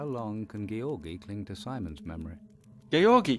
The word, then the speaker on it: Georgi: I've been calling him Georgie for a while now. I initially thought it was probably Georgi because that, I don't know, that just sounds like a more Russian pronunciation to me, but it's nice to have clarification on that.